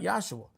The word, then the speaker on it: Yahshua: I want to say it right, Yahshua, because that was the proper pronunciation of his name.